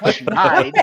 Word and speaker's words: schneider: Schneider, pronounced Schneide, is US slang for a losing streak, particularly in sports.